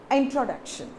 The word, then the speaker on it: introduction: See, now what you have to do, it is not T-R-O, it is generally tro. Okay, it's like tro. Introduction.